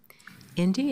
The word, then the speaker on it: Indy: Indy, am I pronouncing that right? Yes, you are.